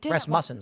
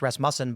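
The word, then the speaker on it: Rasmussen: Ras muffin.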